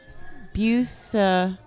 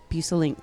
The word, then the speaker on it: Bueselinck: of them say lanick or lick or whatever it is. Yeah. They never say it right though. Bueselinck. Yeah. Bueselinck.